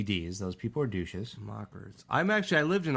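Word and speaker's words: Maccas: McDonald's restaurant in Australia it's pronounced mockers you guys don't call it that over there no we don't some people call it Mickey D's those people are douches mockers I'm actually I lived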